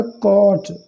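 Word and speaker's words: caught: हैं, पकड़ते हैं, तो कैच का सेकंड फॉर्म है कॉट। यहाँ पर भी GH साइलेंट है।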